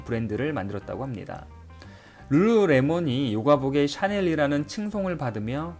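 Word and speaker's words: lululemon: 힘든 캐나다 브랜드 입니다 브랜드 이름의 엘자가 3번 연속으로 나와 사실 발음하기도 쉽지 않죠 이 회사의 창업자 테니스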